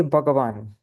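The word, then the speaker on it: भगवन्: Notice how Bhagavan has a short A here. Usually it's Bhagavan with a long A, right? But when it's Bhagavan with a short A, then that is the Sanbodan case. It's the vocative case.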